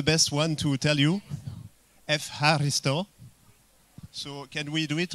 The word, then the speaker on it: Ευχαριστώ: Ευχαριστώ. So can we do it all together? Maybe with the right pronunciation.